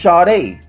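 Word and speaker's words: Sade: name of the whole group is chad a it's not only the singer is the group and it's spelled s-a-d-e and for all you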